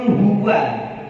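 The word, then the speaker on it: هُوَ: Jadi a tetap a, tidak menjadi o. Gitu ya maksudnya. Ini biasanya terjadi di, nah, misalkan di surat Al-Ikhlas gitu ya. Qul huwa. Nah, ada sebagian itu yang baca qul huwa karena wawunya ikut tafhim kepada lafaz Allahnya. Jadi qul huwallahu ahad. Nah, maksudnya yang lebih pas itu adalah tetap wa.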